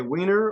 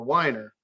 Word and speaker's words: Weiner: as Professor weiner so do you say wiener or whiner I say whiner but thank you for recognizing both pronunciation well Professor weiner was